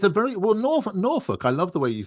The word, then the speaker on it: Norfolk: Nor folk. I think you would say Norfolk or or Yeah, like folk music.